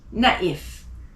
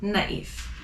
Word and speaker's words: naïf: And tréma, loïc, naïf. How do I know to pronounce the I more than the other letters? It's because of the tréma. So again, loïc, naïf.